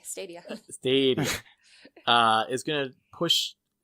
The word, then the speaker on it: Stadia: Long A, Stadia.